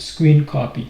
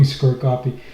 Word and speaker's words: scrcpy: and it's pronounced screen copy. So I was wrong when I was calling SCRCPY.